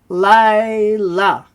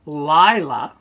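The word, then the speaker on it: לילה: Often you'll hear it sound like the Lila, but it's spelled sort of with a Yod, depending. The Yod is often taken as an I sound. But you can say the Layla.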